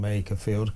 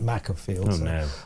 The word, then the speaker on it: Makerfield: Now listen earlier uh you know warning Southerner at large but I was mispronouncing Makerfield calling it Mafield.